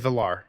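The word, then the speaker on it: Valarr: The right way is Valar. What I'll say is when they pronounce Makar, it was like Makar.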